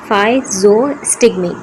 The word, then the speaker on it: physostigmine: देखिए इसको प्रोनाउंस किस तरीके से करेंगे? फाइजोस्टिगमेंट।